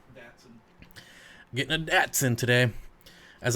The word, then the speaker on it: Datsun: Dotson or Dartson? I've never heard it pronounced Dart. Ever. That seems like an easy one. It's Datsun. Datsun.